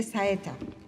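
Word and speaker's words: saeta: inserts a piercing SIA this is spelled si ETA which is a religious cry of fervor he introduces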